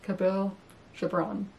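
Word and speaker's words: Kahlil Gibran: I heard I learned how to say this cabil Jabron which was a poetry collection that was a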